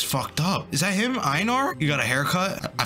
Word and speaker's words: Einar: Einar, that's how they say it.